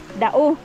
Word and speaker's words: Dao: ito 'yung dadaanan niyo papuntang lang daw sa pag-pronounce niya sir daw dao ah dao dao dao fals pala ito yung